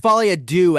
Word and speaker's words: Folie à Deux: It's pronounced Folie à Deux, actually, but we'll move on from there.